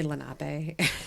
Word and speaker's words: Lenape: ghosts we're gonna squeegee the ghosts away it's pronounced Lenny Lenape and Iroquois and hi hi I'll be here